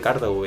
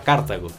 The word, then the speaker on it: Cartago: en cuenta que si a partir de ahora va a decir cartago e intentarlo por lo menos porque esa es la pronunciación correcta en nuestro idioma español ver mi carita feliz